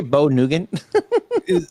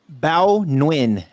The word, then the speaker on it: Bao Nguyen: Netflix spokesperson Bo Nugan said in a statement to The Verge, Did you say Bo Nugan? I don't know, how do you say that? Bao Nguyen. That's what I said.